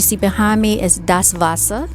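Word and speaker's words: Wasser: behind me is das vasa that's how you say the water of deutsche das vasa okay it's spelled w-a-s-s-e-r and that's preceded d-a-s-w-a-s-s-e-r das vasa that's vassa is groon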